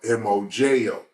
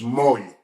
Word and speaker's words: moyo: And I've never seen it written out, but in the pronunciation of being Hispanic, in the pronunciation, moyo would be spelled M-O-J-O, like mojo, but it's moyo.